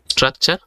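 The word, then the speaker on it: structure: স্ট্রাকচার ইউ একসাথে এবং এই জায়গার মধ্যেও এর উচ্চারণ ছ এর মত হচ্ছে স্ট্রাকচার অর্থ গঠন এভাবে আমার সাথে প্রতিদিন একটা করে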